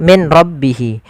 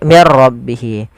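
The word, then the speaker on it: مِنْ رَبِّهِ: Apabila ada nun sukun bertemu dengan ra, maka di sini jangan dibaca min rabbihi, tapi diganti menjadi mir rabbihi.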